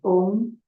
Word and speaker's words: Om: With the next breath in, we will chant Om, which is a summation of 3 syllables. A, O, Ma.